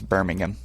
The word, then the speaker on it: Birmingham: Yeah, I think they don't put emphasis on the H. I think it's Birmingham.